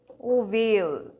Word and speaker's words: ovale: is the foramen ovale ovale oval shaped it rhymes with the word male and male is the